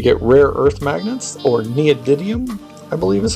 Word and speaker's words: neodymium: Make sure you get rare earth magnets, or neodymium, I believe is how it's pronounced.